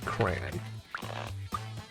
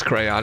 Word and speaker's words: crayon: Hey, the Webster's Dictionary states the proper way to pronounce crayon is in 2 syllables, crayon.